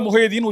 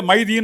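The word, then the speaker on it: முகைதீன்: திருக்கோஸ்ல இருக்க முஹையதீன்ு இருக்கணும் அரேபியால முஹைதீன் உச்சரிப்பாங்க இங்க மைதீன் அப்படின்பாங்க அங்க முகமது மம்மதும்பாங்க அது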